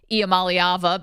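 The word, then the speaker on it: Iamaleava: because we've all finally learned how to correctly pronounce the quarterback's name Nico IAM malava because he deserves our attention and our respect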